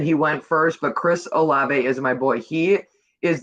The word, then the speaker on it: Olave: They say this kid's name wrong. So Chris, how do you say his last name? Olave. Olave.